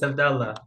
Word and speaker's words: Abdullah: Reflections yep go on is it Abdullah have I pronounced your name right yeah honestly yeah tell me if I haven't yeah it's a it's abdalah you could you could